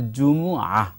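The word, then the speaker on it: জুমুআ: তবে আসলে সবথেকে ভালো যেটি সেটা হলো জুমুয়া, এটা হলো অর্থাৎ মানে আইনটা সর্বশেষ উচ্চারণ, জি, উচ্চারণ করতে হবে।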